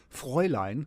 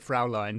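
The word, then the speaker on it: Fräulein: Uh the accent is se except that I I didn't know how to pronounce the German word uh fry line. Frey line. Yeah. So I do pronounce it fra line for the entire book.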